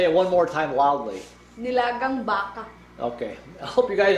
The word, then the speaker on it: nilagang baka: And how do you pronounce this in Philippine? Nilagang baka. Did you guys all catch that? Say it one more time loudly. Nilagang baka.